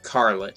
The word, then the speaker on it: Karlotte: Now, or Karlotte, as she is phonetically said in the Japanese form.